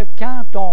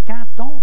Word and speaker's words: quand: Tandis que quand on pense, quand on dit, Q-U-A-N-D, on, parce que le D se prononce comme un T, quand on veut, quand on.